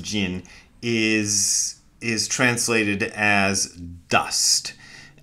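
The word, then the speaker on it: 塵: it's a problem often that word gin uh pronounced Jin is is translated as dust uh and it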